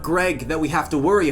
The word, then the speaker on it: Jreg: It's pronounced Jreg, but it's spelled Jreg.